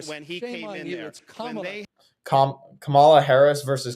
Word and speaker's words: Kamala: fought School opening when he came in there Camala Harris versus Kamala Kamala Kamala like okay you should pronounce people's names correctly but the fact you're